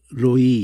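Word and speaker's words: רֹעִי: 만드는 그것이 어떤 단어이든지 세 글자 중에 그가 붙은 거 흐를 날리고 첫 글자에다가 오후 발음을 넣으면 로이 이렇게 하면서 그 다음에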